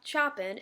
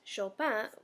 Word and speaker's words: Chopin: It's spelled Chopin, but it's not Chopin, it's Chopin because it's French.